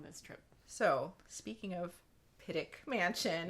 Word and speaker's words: Pittock: So, speaking of Pittock Mansion, and I did look it up several places, including OPB, pronounce it Pittock. So that's what I'm going with.